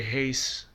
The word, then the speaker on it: Reyes: beautiful right hand on Wilson Reyes very heyse that's how you pronounce his name I looks like Henry